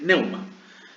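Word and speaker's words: pneuma: Y de ahí viene de neuma, con P, neuma. No se pronuncia la P, entonces es neuma.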